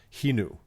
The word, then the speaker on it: Xenu: the air Doug but I believe it's pronounced he knew like Javier right the the